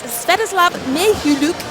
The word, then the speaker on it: Sviatoslav Mikhailik: It's Sviatoslav Mikhailik. He said, don't say the K, so it's one of those names easier to say it if you don't look at how it's spelled. It's like he's rolling the R, basically.